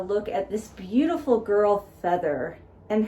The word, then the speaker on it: Pfethyr: at this beautiful girl Pfethyr. And her name is not spelled like a feather. It's spelled Pfethyr.